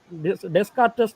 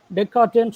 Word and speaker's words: Descartes: என்னன்னா இவ்வளோ சிரமமான ஒன்று நமக்கு டெஸ்கார்டஸ் தமிழில் இருக்குது, இங்கிலீஷில் எழுதுறாங்க. என் ஃப்ரெண்ட்ஸு நண்பர் வந்து இருக்கேன், டெக்கார்ட்டேன்னு சொல்லணும், அதை டெக்கார்ட்டேன்னு ப்ரொனவுன்ஸ் பண்ணணும்னு சொன்னார்.